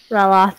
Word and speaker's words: Ryloth: Anyway, she's a 20-year-old, and I don't remember how you pronounce the Twi'lek homeworld. Ryloth, thank you.